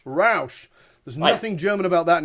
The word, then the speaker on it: Rausch: how do you pronounce that last name? I want to make sure I get it right. Yeah, it's Rausch. Rausch.